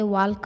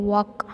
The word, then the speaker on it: walk: See here, L is silent. ಎಲ್ಲಿ ಎಲ್ಲನ್ನ pronouns ಮಾಡಬಾರ್ದು. WALK ವಾಲ್ಕ್ ಅನ್ನಬಾರ್ದು, WALK ವಾಕ್ ಅಂತ ಹೇಳಬೇಕು.